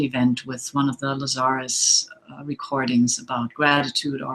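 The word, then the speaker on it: Lazaris: For those of you who don't know Lazarus and many people think the name pronounces Lazarus but it's Lazarus.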